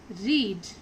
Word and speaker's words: read: नाउ in sixth sentence simple present verb is रीड. रीड का simple past होगा रेड. Spelling same रहेगी READ, लेकिन इसको pronounce क्या किया जाएगा, रेड.